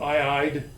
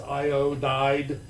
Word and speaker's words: iodide: But arsenic becomes arsenide. It's not arside. So there are some weird conventions, like iodine is not iide, it is iodide for its ending.